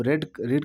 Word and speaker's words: read: तो पढ़ा, तो रीड का थर्ड फॉर्म, रीड का थर्ड फॉर्म वही होता है, रीड, रेड, रेड, बस प्रोनाउंसिएशन बदल जाता है।